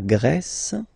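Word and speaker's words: grec: form GRE feminine form you write them differently but then if you listen carefully gre gre you pronounce them the same way okay Portugal portug portuges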